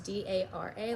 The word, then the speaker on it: Dara: she says it because in the book it's d-a-r-a like Dara so it's interesting you know I'm